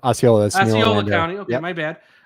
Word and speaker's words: Osceola: Osceola County. Is that how you say it? Osceola. That's Osceola County.